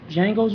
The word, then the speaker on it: Django: So Django's a remake. Um, it when you see the previews on TV and Jamie Foxx says Django the D is silent, the dude he's sitting next to is Django from the original.